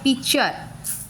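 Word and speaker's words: picture: अभी आ गया पिक्चर, PIP चर, CHER चर, आर तक प्रोनाउंसिएशन हो रहा है, टी का नहीं हो रहा है।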